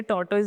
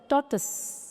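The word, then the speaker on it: tortoise: और ये टॉर्टइस नहीं होता है। इसको बोला जाता है टॉर्टस।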